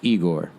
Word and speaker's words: IGOR: this is not Flower Boy, this is IGOR, pronounced IGOR.